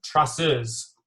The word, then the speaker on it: traceurs: Can you say it without the accent? Like in French? Traceurs.